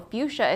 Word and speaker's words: fuchsia: So this is tangerine, fuchsia, which, did you guys know, fuchsia is spelled, no, I'm going to spell it wrong, F-U-C-H-S-I-A? I didn't know if there was a C or not, because it's kind of hidden.